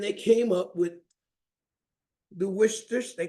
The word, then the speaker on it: Worcester: It is pronounced Worcester, being the town where it was made, shire being the county where the town of Worcester is in England.